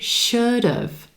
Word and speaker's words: should've: And should've. Following that same pattern, it sounds like a two-syllable word, emphasis on our first syllable and the as in would. Second syllable sounds like dove, should've.